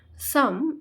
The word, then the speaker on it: psalm: সাম উচ্চারণটা হবে SAMPRL এর প্রোনাউন্সিয়েশনটা উজ্জ্ব থাকবে।